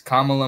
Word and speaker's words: Kamala: I remember the thing to remind you is Kamala Mamala. Kamala Mamala. It rhymes.